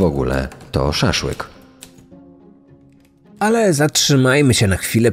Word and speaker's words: szaszłyk: potrafił wypowiedzieć głoski przy No i czemu miałby zniekształcić tylko pierwszy w słowie szaszłyk Dlaczego nie mówił po prostu Sas łyk prawdopodobnie Najmrodzki Najzwyczajniej nie wiedział że popełnia błąd w wymowie i Za nic w